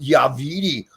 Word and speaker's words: WeeDE: Listen, Vince, it's pronounced WeeDE.